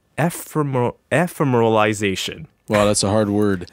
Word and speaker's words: ephemeralization: i would say like you have to like divide the word up so you would say fair mer realization yeah yeah that's you